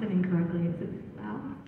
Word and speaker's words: Louth: You're from, I don't want to pronounce it incorrectly. Is it Louth? How do I say it? Yeah, it's Louth.